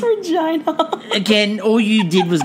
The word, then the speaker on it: Regina: And it's Regina. Again, all you did was giggle every time they said the word Regina. Well, it rhymes with go vagina.